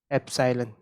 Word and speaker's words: epsilon: इसको कैसे प्रोनाउंस कर रहा हूँ मैं, एप्सिलॉन, एप्सिलॉन ग्रीक लेटर है ये।